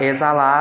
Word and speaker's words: exalar: A palavra exalar, ela tem 6 letras e 6 fonemas, sendo que o X da palavra exalar, ela vai ter também o som de Z.